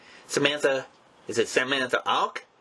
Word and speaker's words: Auch: Her name, Samantha, is it Samantha Auch? A-U-C-H? Yep. Okay. Yeah, like awkward.